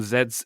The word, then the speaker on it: Zedd: It's a song by a German DJ called Zedd, and that is the name chosen because it is how the way that English people pronounce the last letter in the alphabet.